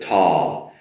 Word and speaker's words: tall: I stood tall. Not too difficult on the pronunciation, I believe. Just make sure you make that proper tall L sound at the end of tall.